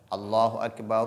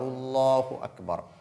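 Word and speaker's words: الله أكبر: Mais lorsqu'on ne marque pas de pause entre les deux, la deuxième, c'est-à-dire la Hamza qui est au niveau du deuxième Allah, n'est pas lu, n'est pas prononcé. On dit donc Allahu Akbar, Allahu Akbar. Alors, on dit Allahu Akbar. Allahu Akbar, Allahu Akbar. C'est ce qui est correct.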